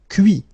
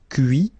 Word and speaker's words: cuit: Cuire, cuit. Détruire, détruit. Instruire, instruit. Okay, so you can notice that even if I put this final T, so as usual, I don't pronounce it. Okay, conduit, construit, cuit, détruit, instruit.